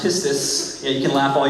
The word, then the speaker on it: pistis: The ancient Greek word is pronounced pistis.